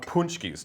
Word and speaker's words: pączki: Nikki's going to tell us about pączkis. Now, first of all, what is a pączki? So pączkis are Polish donuts. It's spelled really weird, but they're really, P-A-Z-C-K-I.